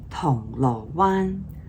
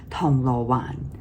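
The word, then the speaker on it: 銅鑼灣: But for now, it should be correctly Tong Lo Wan, Tong Lo Wan.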